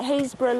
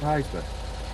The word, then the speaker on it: Happisburgh: Tomorrow at 2:30, make a pot of tea at the how do you pronounce it? Happisburgh Lighthouse.